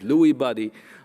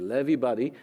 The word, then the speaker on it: Lewy body: in the United States sometimes you know they pronounce it Lewy body I've been told it's actually levee buddy and that that's actually you see those clumps